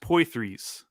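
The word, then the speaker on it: Poythress: Is it, how do you say Pothras? Pothras? I don't know. I've read that name a lot in my time. I don't think I've ever tried to say it. It's pronounced Poithras.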